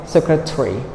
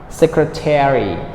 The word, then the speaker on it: secretary: So American, they pronounce all the syllable.